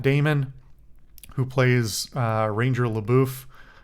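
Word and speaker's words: LaBoeuf: who plays uh Ranger labou or Le beef as he calls it I I think that's I don't think that's Matt Damon's problem I think that's actually the the way it's the the character pronounces it but um I don't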